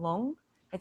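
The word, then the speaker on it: lung: in a while people will say they get long it spelled LD U and G and when someone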